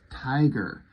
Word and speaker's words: Tyger: This is Tiger, like his code name, but it's spelled with a Y, Tyger.